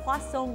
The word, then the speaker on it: croissant: We're in Croissant Gourmet, a traditional French bakery in Winter Park.